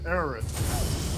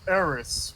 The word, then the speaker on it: Aerith: I never heard it as fucking Aerith. I've always heard and pronounced as Eris with the S instead of the TH.